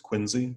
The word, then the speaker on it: Quincy: in the bottom left John Quincy Adams spelt Quincy and you're as you'll see in your textbook but pronounced Quincy John Quincy Adams is here with the sideburn